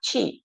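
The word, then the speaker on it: qi: How can we use the energy in Chinese uh you know pronunciation is actually uh chi.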